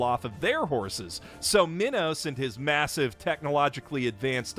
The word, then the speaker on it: Minos: of the evil tyrant King Minos, or possibly Minos. They pronounce it literally every possible way in this dub, and that's a running theme with these movies.